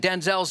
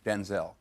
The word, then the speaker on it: Denzel: Turns out we've all been saying Denzel's name wrong. And he set the record straight this week on Jimmy Kim Alive. My name's not pronounced Denzel.